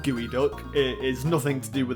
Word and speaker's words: geoduck: Psyduck here we have the gooey duck which is spelled like it's geod duck so I might have